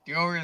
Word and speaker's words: Dioria: Dioria is the way we pronounce it, right?